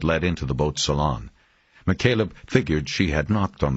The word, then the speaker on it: McCaleb: enough not to forget she had mispronounced the name saying McCallum instead of McCaleb and used the formal